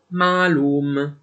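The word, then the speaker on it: معلوم: o, quindi pronunceremo shoba; ancora quando la 3ain segue una a breve farà pronunciare questa a breve come una a lunga, come ad esempio nella parola araba ma3lûm, che in urdu si pronuncia semplicemente mâlûm (noto, conosciuto).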